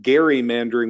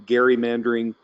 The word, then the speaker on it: gerrymandering: Cokie Roberts on NPR pronounced this as you did the term gerrymandering with the heart G Theresa notes that Ronald